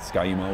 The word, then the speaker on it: Ski-U-Mah: It just rhymes with raw, so it can be part of a nice rhyming cheer, and Ski-U-Mah was born.